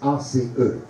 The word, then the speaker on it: Ace: qui est l'AC Ace, ACE. Ça se prononce en anglais Ace.